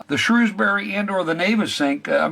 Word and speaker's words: Navesink: The Navesink and the Navesink River, it's pronounced Navesink according to the old locals who've been living